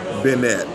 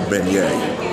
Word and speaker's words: beignet: said we in DC we probably would call them B benette that's what we would say but it's really uh I want to say it's a beignet I think that's how they say it down here it ain't a benett all right uh but